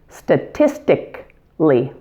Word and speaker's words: statistically: This one looks long, but is only 4 syllables. Did you note that we dropped out a syllable? Words ending in A-L-L-Y in English generally delete the A-L syllable in speech. Listen, statistically, statistically.